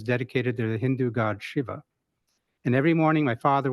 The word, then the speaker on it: Shiva: He vowed that if he survived this ordeal, he would name his firstborn son after Lord Shiva. And here I am. Except we're Southern and we pronounce it Siva.